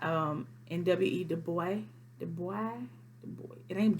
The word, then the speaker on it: Du Bois: in w.e du bois the boy the boy it ain't the voice don't get on this comment and then you don't pronounce the end the boy he was